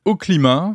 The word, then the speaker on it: Oklima: dédiée à cette mission elle s'appelle au climat ça s'écrit avec un O et un K de quoi s'agit-il exactement